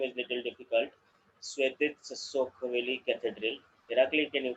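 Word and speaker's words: Svetitskhoveli: Svetitsa Sokoveli Cathedral. Irakli, can you correct me? What is the exact name? It was perfect pronounced.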